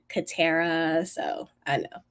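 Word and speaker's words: Katara: name people so um some people might say like qara like the Avatar The Avatar but it's actually like catara so I know it's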